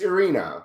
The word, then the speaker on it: Irina: By the way, you always say it wrong. It's Irina. Irina.